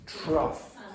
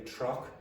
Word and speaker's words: trough: o u g h no no it's truff it's Weir weird so for example what's this how do you spell it g GH okay trough now in Oreland so I'm from a farmers family so the word truff or some parts of Ireland they say truck is the thing that